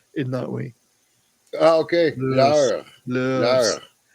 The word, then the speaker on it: leurs: Yeah, this is why I can't say words like lures, L-E-U-R-S. I can't say it because I can't roll my R's in that way. Oh, okay. Lure. Lures. No, the S is silent.